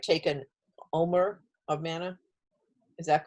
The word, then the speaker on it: omer: You're talking about, and if I pronounce it right, take an omer of manna. Is that correct? Yeah, an omer of manna.